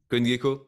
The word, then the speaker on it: CoinGecko: Et comme je l'ai teasé dans le titre de cette vidéo, le CoinMarketCap, CoinGecko, je sais pas comment il faut le prononcer, Killer, Gecko. CoinGecko, merci.